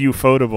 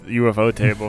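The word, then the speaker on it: ufotable: or did he say he said you foldable yeah you foldable it's it's it's it depends yeah my friend and i have been pronouncing it as ufo table forever that's fine ufo table is very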